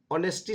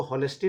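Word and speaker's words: honesty: जैसे हम लोग ऑनेस्टी शब्द का प्रयोग करते हैं, ऑनेस्टी, तो ऑनेस्टी तो एच से शुरू होता है, लेकिन कोई भी इसको हॉनेस्टी नहीं बोलता है। एच जो है वहाँ पर साइलेंट रहता है, उसी तरह से यहाँ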